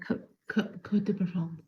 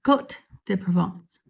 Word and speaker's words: Côte de Provence: How do you pronounce that? Côte de Provence. Côte de Provence.